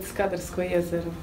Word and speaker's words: Skadarsko jezero: Skadar, but we actually call it Skadarsko jezero.